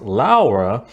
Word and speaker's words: Lara: It's supposed to be pronounced Laura, but even the British people who were making that movie called her Laura.